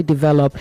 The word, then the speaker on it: develop: Develop, not develop, all right? You say develop.